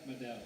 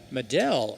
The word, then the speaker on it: Mell: Jessica Matt, the right fielder, number 11, Jessica Mell. Mell is how they pronounce that last name.